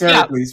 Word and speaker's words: Heracles: Well, Americans are used to pronouncing it Hercules. Right, Hercules, because it's the Disney movie. But it's Heracles. Yeah. She's right. It's Heracles.